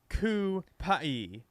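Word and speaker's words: Cupey: Ricky Colon, Cupie pronounced Kupai, Puerto Rican suburb.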